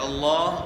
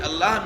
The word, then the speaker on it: اللہ: اللہ کے ساتھ لفظ اللہ میں لام کا تلفظ دو طریقوں سے ہوتا ہے۔ ایک ہے تفخیم، تفخیم یعنی موٹا پڑھنا، اور دوسرا طریقہ ہے ترقیق یعنی باریک پڑھنا۔ تو تفخیم کا مطلب